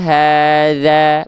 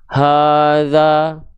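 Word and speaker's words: هذا: Sama, setiap huruf berharokat baris atas, kalau keluarnya adalah vokal A, maka pelafalannya ditipiskan. Za, bukan za, oke? Za. Jadi ada senyumnya sedikit mulutnya. Falyabudu rabba hadza, bukan hadza, ya.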